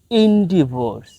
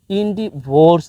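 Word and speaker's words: endeavours: তার কিছু প্রতিশব্দ হচ্ছে ইনডিভোর্স। এর প্রতিশব্দ হচ্ছে ইনডিভোর্স, অর্থাৎ এখানে ইনডিভোর্স এইভাবে উচ্চারণ হয় না, এখানে মূলত ইনডিভো এই পর্যন্তই থাকে।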